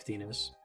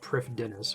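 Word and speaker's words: Prifddinas: and unlock probably thinnest probably your first time hearing me pronounce that i know everyone calls it priff dennis or priff but i'm pretty sure that's the actual was it welsh pronunciation check the wiki it says to pronounce it that way i just don't think anybody does um but it'll be nice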